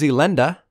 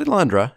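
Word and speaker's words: Elenda: - up next is Olinda not Alondra as i'm gonna pronounce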